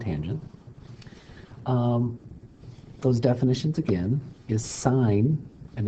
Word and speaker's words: sine: SOHCAHTOA to get the sine, cosine, and tangent. Those definitions again is sine, and you don't pronounce it sin, you pronounce it sine. It's whole word, it's whole name, sine, opposite over hypotenuse.